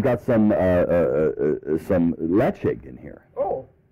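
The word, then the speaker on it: Ledaig: about this many people may know this as leeg l e d AIG G pronounced right but pronounced leig um and is is this gorgeous big island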